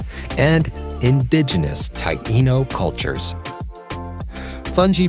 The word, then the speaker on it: fungi: Fungi, pronounced fun, is a traditional Caribbean side dish closely associated with the US Virgin Islands, particularly St.